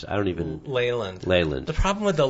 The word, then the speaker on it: Leyland: But when you see an unhealthy Leyland, is it Leland or Leyland? How do you pronounce it? I don't even... Leyland.